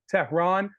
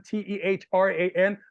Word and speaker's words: Tehran: social media I am Tehran uh i a m t e h r a n my name is Tehran like the capital of Iran so if you don't